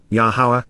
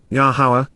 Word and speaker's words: Yahowah: according to, and for Yahawah, Yahawah, the proper pronunciation of Yahowah, our Eloah, God has directed in his Torah regarding his existence and our shalom, restoration.